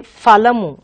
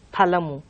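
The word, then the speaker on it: ఫలము: And in Telugu we have, some people say falamu. We don't have this sound in Telugu at all. So some people say falamu, falitamu, which is quite wrong. So you should say only phalitamu, phalamu.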